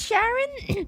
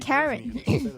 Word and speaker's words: Charon: It is Sharon. This is her work. Why did something pronounce it Karen? Are they just mispronouncing it?